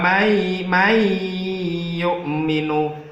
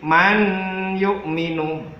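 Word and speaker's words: مَنْ يُؤْمِنُ: Sebagai contohnya adalah wa may yu'minu. Jadi tidak boleh man yu'minu. Jadi suara nun sukunnya harus masuk ke huruf ya-nya. May yu'minu.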